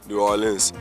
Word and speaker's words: New Orleans: knows what he's doing he's a total Pro New Orleans that that dude was born here for sure